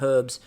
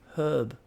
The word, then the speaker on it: herb: actually had the word herb i know you pronounce the h it's wonderful i again pet peeve is the herb there's a h there pronounce the h what other h's are